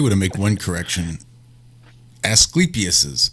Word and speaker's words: Asclepius: to make one correction asclepius's staff i believe is the correct pronunciation even i ended up